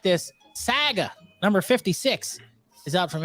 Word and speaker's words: Saga: I'm pretty sure it's Saga. It's not. It's not how you say it. Saga. You sure not Sega? No, it's Saga.